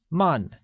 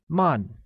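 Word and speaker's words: 慢: same slow translates as Mun which is pronounced using a falling tone once again it is Mon great note that one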